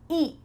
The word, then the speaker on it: eat: Eat. When I said it the first time, did you hear that T? Eat. No, because I'm using a stopped T.